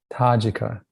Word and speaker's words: Tajika: The Tajika, is that the correct pronunciation? Tajika.